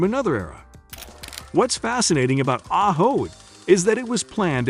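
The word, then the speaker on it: Ajo: Located in the heart of the Sign Desert, just 43 miles from the Mexican border, Ojo, pronounced Aaho, Spanish for garlic, is home to about 3,500 residents.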